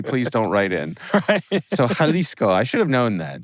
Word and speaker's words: Jalisco: people I don't know can I correct you on pronunciation sure halisco halisco thank you thank you very much